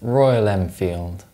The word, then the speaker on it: Royal Enfield: If you pronounce the M sound in Triumph and the M sound in Royal Enfield, you're wrong. That's because when these sounds are followed by the F sound, they're dentalized.